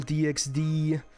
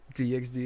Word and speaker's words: DxD: harem as well no no you don't pronounce the x okay what does the